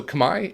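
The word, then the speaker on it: Khmer: which I guess is about as close as you can say it in English to the way that they would say it in Cambodia I know most players refer to it as say kamur or k but I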